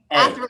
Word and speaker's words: Athre: Athre. Hey, Athre. yeah, I think I was saying it wrong the whole time. it's Athre. okay.